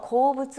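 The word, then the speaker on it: 好物: 와타시와 나는 개콘 기념비니 결혼 기념일에 슈진 노 고부츠 노 여기까지. 남편이 좋아하는 음식인 고로케오 고로케를 츠쿠테 아게마스가 만들어주고 있는데요 라는 뜻이 되는군요. 자 여기 보시면 고부츠라고 하는 단어 나오죠. 호물 이렇게 써서 고부츠라고 읽어요. 고부츠 좋아하는 음식이라는 뜻입니다.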